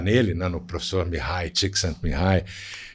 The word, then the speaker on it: Csikszentmihalyi: É engraçado porque, assim, antes de chegar nele, né, no professor Mihai, Csikszentmihalyi, e falar do Projeto Flow, é interessante, porque, no fundo, ele só é esse negócio que surgiu agora.